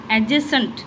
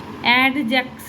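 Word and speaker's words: adjacent: है ना ये है एडजेसेंट जैसे एजेंट एसेंट ये जो डी का मतलब क्या बोलते हैं उसको स्पेलिंग डी का डी इधर साइलेंट है ठीक है एडजेक्स नहीं ए जेंट ए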